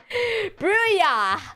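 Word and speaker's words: Brouillard: How to pronounce Brill. Oh, Bya. Brewya.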